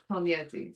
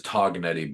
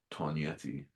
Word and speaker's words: Tognietti: an American, which is Toganetti. But when you get to Italy, the G is silent and people laugh at you. And so we have changed our pronunciation to the authentic way of Tonyi.